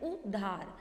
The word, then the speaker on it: उधार: उधार कोई शब्द तो होगा, लेकिन बड़ा ऊ की मात्रा नहीं रहेगी। सही उच्चारण है उधार।